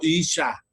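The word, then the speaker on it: אִשָּׁה: Esta será llamada varona, que significa, o se pronuncia en hebreo, Isha.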